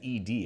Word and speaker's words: ed: So, uh, ED, pronounced as distinct letters. So, it's not ED, it's ed d apparently, which makes it